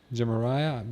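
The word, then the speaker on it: Jumeirah: Villa on Palm, I know how to pronounce this. Jamia, because I've heard this a million times. Jamariah Beach, Palm Jamariah.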